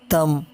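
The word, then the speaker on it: thumb: और इसी तरह जब बी एम के बाद आए तब भी बी साइलेंट रहता है, जैसे तम, क्लाइम, कॉम, डम, बॉम, लैम, प्लमर।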